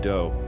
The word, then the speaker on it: Do: this guy Marshall Appawite, but his friends called him Do, which rhymes with Joe.